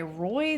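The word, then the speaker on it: Rhoy: Uh, worn by Roy the Explorer. Roy is spelled R H O Y.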